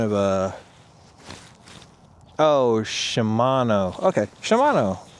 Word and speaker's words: Shimano: see what kind of a oh Shimano okay Shimano all right yay I finally said it right